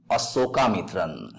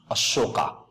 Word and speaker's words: Asokamitran: Look at the spelling, Asokamitran. So its pronunciation should also be Asokamitran, not Ashoka, not Sha, it should be Sa.